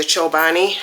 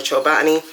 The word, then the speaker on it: Chobani: after checking out the Chobani um or Chobani. I say Chobani cuz that's just how I feel it's pronounced.